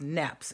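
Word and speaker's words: Niépce: it was another guy by the name of nebs and it's spelled n e IP C E but it's pronounced Knapp's it was a French guy he had taken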